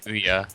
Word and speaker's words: Ouya: get hua or whatever how do you even pronounce it I say some people say oh yeah yeah either way I say oh yeah um you know I